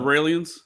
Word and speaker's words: Raelians: Wait, are you familiar with the Raelians? The what? The Raelian cult? What is the Israelians? No, they're called Raelians. It's just take off the IS from Israelians. Israeli.